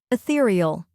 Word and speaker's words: ethereal: Next is ther, which rhymes with peer and is stressed.